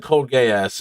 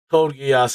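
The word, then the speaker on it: Code Geass: i would have said cold gay ass and i would have got canceled for it so i have no idea how to pronounce that so cold geass it is i'm glad you guys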